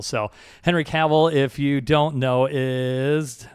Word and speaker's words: Cavill: I had to look it up because I wasn't sure how to say it for sure, but he said it's Cavill, like travel. So Henry Cavill, if you don't know, is, I got to find a picture of him here.